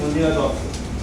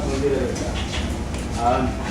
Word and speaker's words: Mandira Dutta: Mandira, the proper Bengali pronunciation is Mandira Datta, not Mandira Datta.